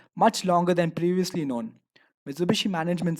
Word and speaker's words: Mitsubishi: However, hishi is pronounced as bishi when used in the second half of a word. The combination generated the name Mitsubishi.